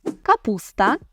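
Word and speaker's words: kapusta: Горох - це горошок капуста капуста тут цікаво майже як в українській мові так і лише іншими буквами це записуємо але співпав також і наголос капуста капуста може бути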